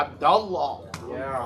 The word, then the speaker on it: Abdullah: you would say Abdullah. Yeah, but make sure Allah stays heavy. Yeah, Abdullah.